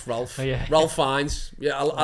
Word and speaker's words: Fiennes: I don't know how to pronounce his name. Ralph. Oh, yeah. Ralph Fiennes.